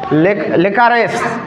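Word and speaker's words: licorice: এটা কিন্তু রাইস উচ্চারণ হবে না। লেকুয়ারেস। লেকারেস। এটা হচ্ছে লিকারেস।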